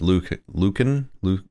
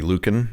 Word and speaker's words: Lucan: the brilliant young poet Lucan? I don't know how to pronounce the C. I think it's a hard C. Lucan, maybe?